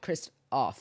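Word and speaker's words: Christof: name was Kristoff and they spell it Christ with an F so c h r i s t f CH Chris Christ o o I'm sorry Christ off right and I thought that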